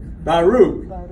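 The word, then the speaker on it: בָּרוּךְ: But see, that Shabba is also what? Silent. That Shabba is silent. And how about, so there's two syllables, right? Two syllables. How about blessed? Baruch. And now the Shabba at the end of that is silent. But it connects those two, so it's only two syllables.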